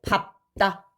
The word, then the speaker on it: 밟다: 리을로 발음이 돼야 되는데 얘가 예외로 자음 앞에서는 밥으로 발음이 됩니다. 밥. 그래서 선생님이 방금 발음을 어떻게 했어요? 땅을 발로 밟다, 밟고 이런 식으로 발음이 되는 거예요.